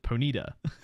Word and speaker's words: Ponyta: predator okay cool because because the announcer uh pronounced it ponida i'm gonna do that